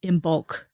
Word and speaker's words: Imbolc: or or traditions than the imbul which I'm not even sure if it's really spelled with a g. It's just that's how I annunciate it.